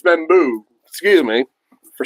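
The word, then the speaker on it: Membou: Membu I've been saying Mebo. It's Membu.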